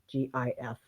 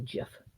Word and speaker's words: GIF: it as a gif g i f i say gif i'm a hard g gif not a jif jeff is peanut butter